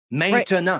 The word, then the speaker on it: maintenant: He says, the word for now in French has 3 syllables. Maintenant.